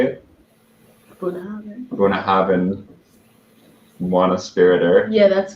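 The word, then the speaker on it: Bunnahabhain: Bunahaven.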